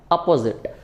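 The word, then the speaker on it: apposite: इसको हम ऑपोजिट pronounce करते हैं, इसको हम प्रोनाउंस करते हैं अपोजिट।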